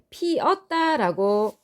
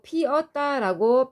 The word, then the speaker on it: 피었다: 있어요 피었다 같은 경우에 우리가 피었다라고 발음하고 피었다라고 표기해야 합니다 그런데 우리 일상에서 피었다라고 표기하는 것을 많이 볼 수 있습니다 이것은 올바른 표기가 아니겠지요 동사어가 피는 그대로 있고 종교로미도 그대로 있습니다 그러면은 여기에 과거 시제 선호만 어미 업 부분에 반 모음 2가 첨가된 현상이라고 볼 수 있는데 이것은 표준 발음이 아닙니다 따라서 표준 표기도 아닙니다